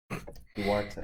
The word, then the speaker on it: Duarte: How do you pronounce that, Curtis? Duarte.